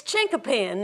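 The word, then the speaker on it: chinquapin: It's chinkapin.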